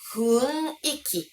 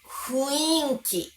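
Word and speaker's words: 雰囲気: Đây là từ mà người Nhật thường phát âm sai nhiều nhất. Cách phát âm chính xác là "funiki", nhưng nó thực sự khó phát âm, phải không? Bản thân tôi thường phát âm là "fuinki" hoặc "fuiki". Cách phát âm này phổ biến trong giao tiếp, nhưng không được chấp nhận trong ngôn ngữ trang trọng hoặc văn viết.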